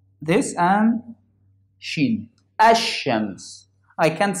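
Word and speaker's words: الشمس: Like here, shams, ash-shams. I didn't pronounce that lam. I pronounced this and sheen. Ash-shams.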